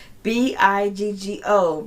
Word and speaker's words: Bigo: Biggo rhymes with bingo. Biggo.